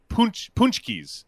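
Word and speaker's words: pączki: I don't even like ordering it, even though, but punchkis, I think is how you say it. But it's spelled P-A-C with the little eyelash under it.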